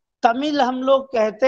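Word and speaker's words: தமிழ்: देखिए, एक तो तमिल हम लोग कहते हैं, शुद्ध उच्चारण है तमिल, क्योंकि तमिल में उसका उच्चारण मैं नहीं करूंगा, जो तमिल का उच्चारण है 3 ला है, ला है, र है और रा जैसा उच्चारण होता है।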